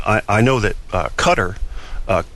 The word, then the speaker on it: Qatar: I know that uh cutter uh cutter actually Qatar the way you the way you uh the country is supposed to be pronounced cutter from what I've heard not not cter or cater uh you know pronunciation